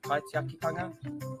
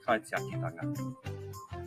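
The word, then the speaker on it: kaitiakitanga: Ko te kupu o te wiki, kai te akitanga, guardianship, kai te akitanga.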